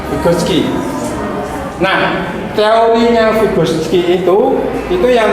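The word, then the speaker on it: Vygotsky: Terus yang kedua, Figoski ya. Ini kalau bacanya biasa ya, Figski.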